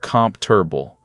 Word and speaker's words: comfortable: And the word comfortable, we don't carefully say com fort a be o. In natural speech, it's more like comf-ter-ble. Three beats, not four.